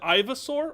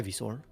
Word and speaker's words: Ivysaur: Is it Ivasaur or is it Ivysaur? It's definitely Ivysaur. It is. I asked the question, I realized it's Ivysaur.